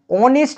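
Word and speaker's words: honest: উত্তর হবে দেখো এন আবার দেখো অনেস্ট ম্যান দেখো অ সাউন্ড আসছে এখানে দেখো অ রয়েছে ভাওয়েল তার জন্য দেখো এখানে হবে এন একচুয়ালি এইচ টা সাইলেন্ট রয়েছে আবার দেখো এম পি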